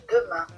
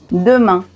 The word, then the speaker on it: demain: Si on observe ces mots ici, A i N est suivi d'une consonne, le T. Ici, demain est à la fin du mot. Donc après, il n'y a plus rien.